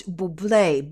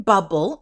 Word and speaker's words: Bublé: asked me, what about Bublé, bubble? It was written bubble, and I figured, well, maybe she didn't put the accent on the E, Bublé, then the singer, Bublé.